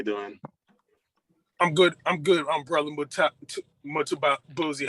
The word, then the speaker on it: Mtambuzi: I'm Brother Mtambuzi. How you doing this morning? I'm doing well. All right, I'm pronouncing morning, the name. It's almost right. Mtambuzi. Okay, Mtambuzi. Okay, cool. That's right.